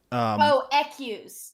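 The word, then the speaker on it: écu: for specifically was, yeah, it's pronounced like X or something like that. I think like EQUES. So it's specifically. So I will give like. EQs. Yeah, EQs. That's how you pronounce it.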